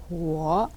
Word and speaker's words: 火: 후어. 애치 발음 우어 후어 처는 아니고 처도 아니고 이걸 빨리 하시면 후어.